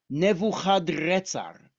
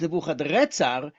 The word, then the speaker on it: Nebuchadrezzar: is how you say his name: Nabuchuduri Usur, Nebuchadrezzar, Nabuchuduri Usur. So if his name is Nebuchadnezzar, but it's actually in Akkadian, it's Nebuchadrezzar, then that's actually the more correct pronunciation.